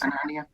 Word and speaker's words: Hananiah: Am I pronouncing that name right? Yes. Hananiah?